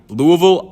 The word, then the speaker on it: Louisville: Louisville, I said Louisville in my previous videos.